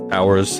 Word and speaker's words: hours: hours on this one hours has an h a silent h in it in English and I do think